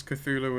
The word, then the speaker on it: Cthulhu: Cthulhu yes it's wrong if you wanted to be tech super technically accurate it should be pronounced with a cave sound yeah and the heart team Oh actually if you follow the South the Sonic the C is silent language yeah I wish